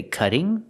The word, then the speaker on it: cutting: You can say cutting. Cutting with a double T making a d sound, a fast d.